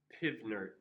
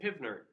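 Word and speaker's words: PV=nRT: We call this, pronounce it, Pivnert. We pronounce it Pivnert. It's how you remember what variables go on which side of the equation. Pivnert, PV equals nRT.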